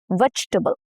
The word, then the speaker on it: vegetable: vegetable. Okay, three syllables. English often drops extra vowels for smoother speech. Those dropped unstressed vowels don't completely disappear. They get reduced to a barely there sound.